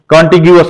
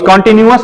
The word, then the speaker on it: contiguous: ठीक है ना, कॉन्टिग्यूअस, कॉन्टिन्यूअस नहीं, कॉन्टिग्यूअस. ठीक है ना, दोनों में डिफरेंस है.